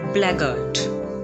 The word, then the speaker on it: blackguard: is blackguard pronounced as blaggardt it's not blackguard blackguard like cupboard so it's blackheart this